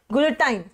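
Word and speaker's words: guillotine: Correct spelling होती है उसकी GUILLO, गुलेटाइन, ठीक है, GUILLO, तो करेक्ट वर्ड आपका होगा गाइस।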